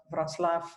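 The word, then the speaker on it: Wrocław: And, first off, I would like to thank Wroclaw TypeScript. I worked a lot on pronouncing that close to how you would pronounce it, but yeah.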